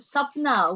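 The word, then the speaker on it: Sapna: and then spell it it's s-a-p-n-a and sub-now which means dream actually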